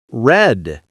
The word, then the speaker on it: read: Red. That was a tricky one. It looks the same, but sounds different in the past.